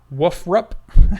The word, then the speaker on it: WFRP: individual terms test acronyms WF RP woofer up if we pronounce that woofer up I didn't know that